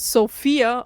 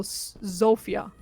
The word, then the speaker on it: Zofia: it's Sophia or Zofia.